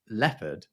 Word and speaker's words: leopard: But nevertheless, the reason that we pronounce it leopard, but spell it leopard, is that the French spelling that we took was Leupart.